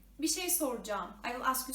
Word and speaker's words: bir şey: You know, Turkish is not pronounced as it is written, but bir şey, it means something, is written with R. Normally it is pronounced, but we don't pronounce it, okay, in daily speaking.